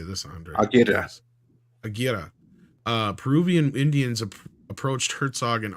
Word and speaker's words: Aguirre: Aguirre. Peruvian Indians approached Herzog and offered to murder Kinski. He reportedly seriously considered it. Awesome film. Yeah, this is another true story. I'm not sure it was on Aguirre.